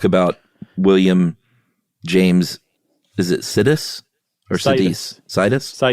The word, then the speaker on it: Sidis: they were talking about, Sidis. Sidis. Yeah, so the with the emphasis on the side, but I had not heard of him before, had you?